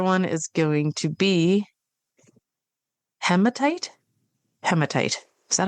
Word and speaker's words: hematite: Okay, one is going to be malachite, and the other one is going to be hematite. Hematite. Is that how you pronounce that?